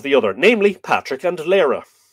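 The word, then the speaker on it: Lóegaire: Each then asked tidings of the other, namely Patrick and Lyra, or Leary. You'll hear a very anglicised pronunciation of Lyra.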